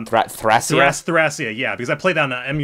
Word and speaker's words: Thracia: I was all the way back with Tharsia 776. Sorry, I pronounced that weird, but Thracia.